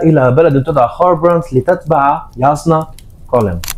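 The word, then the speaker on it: Jasnah: شالان هي امرأة يقتل والدها، فتضطر إلى الخروج من بلدها إلى بلد تدعى خاربرانت لتتبع ياسنا كولين. هي تكتب جازنا لكن تلفظ ياسنا كولين.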